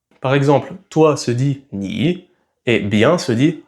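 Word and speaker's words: 你: Et donc, quand deux mots sont au troisième ton, a, et qu'ils se suivent, alors la première syllabe passe au deuxième ton, a. Par exemple, toi se dit ni, et bien se dit hao.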